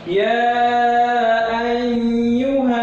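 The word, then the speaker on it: يا أيها: Cara membacanya panjang 5 harokat. Makanya ada tanda di layar ini 5 harokat ya. Ya ayyuha. Nah, ini panjang. Ya ayyuha. Ini yang disebut mat jaiz munfasil ya. Ini huruf mat tabi'i bertemu dengan hamzah. Mat tabi'i bertemu dengan hamzah. Jadi dia di hukumnya mat jaiz munfasil membacanya 5 harokat.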